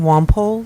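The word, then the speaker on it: Wampole: need a taller mic my name is womp ole you want me to spell that w am pol ii and i live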